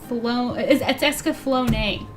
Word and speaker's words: Escaflowne: It's Escaflowne, right?